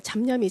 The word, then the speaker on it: 잡념: 기도를 하다 보면은 이제 잡념이 발음을 잘해야 됩니다. 그게. 미음이냐 이응이냐에 따라서 이게 차이가 많이 나기 때문에 잡념 여러 가지의 잡된 이제 생각이 든다 그 말이죠.